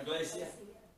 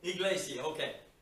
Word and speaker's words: Iglesia: And I'm not sure how they pronounce it. Iglesia? Iglesia. Iglesia. Iglesia, okay.